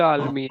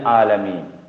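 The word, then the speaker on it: العالمين: अब देखो यहाँ आलमीन को कैसे पढ़ेंगे? जबर उसके बाद अलिफ, तो थोड़ा सा खींचेंगे, है ना? आलमीन। ठीक है। और यहां देखो मीम उसके बाद या, मीम उसके बाद या साकिन, उससे पहले जेर, या उससे पहले जेर। तो हमने कहा या हो उससे पहले जेर हो तो वो भी खींचेगा, इसलिए इसको भी कैसे पढ़ेंगे? मीना, आलमीना। ठीक है, समझ आया?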